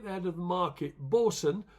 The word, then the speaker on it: bosun: Bosun, not boatswain as people do pronounce it, bosun as in the Navy term, the Navy, you have a bosun on a ship, don't you? So that's how bosun's spelled.